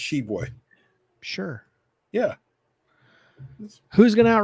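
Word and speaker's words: Tshiebwe: I think the T is silent for what it's. I think it's just Shibwe.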